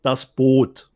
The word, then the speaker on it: Das Boot: I know it's spelled identically to the English word, but the correct pronunciation is das Boot.